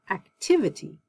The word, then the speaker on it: activity: able but ability active you see it's on this first syllable active but when i put the ity i say activity agile agility capable capability